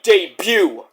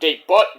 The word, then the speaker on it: debut: It's supposed to be debut. I can say it any way I want. Deb butt. Debut dew. Doesn't mean I don't know English. I just like to say it like deb butt. Like you're the butt of my jokes.